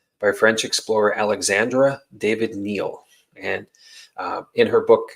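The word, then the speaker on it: Néel: i d hyphen Neel but it's pronounced Neil um so uh in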